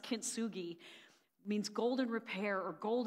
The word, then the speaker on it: kintsugi: Mickey Howard before this but I think it's pronounced kintsugi means golden repair or gold golden mending yeah